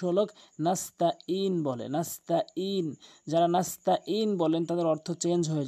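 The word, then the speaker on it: نستعين: যারা নাস্তাঈন বলেন তাদের অর্থ চেঞ্জ হয়ে যায়। নাস্তাঈন, আইনটি হলকের মাঝখান থেকে।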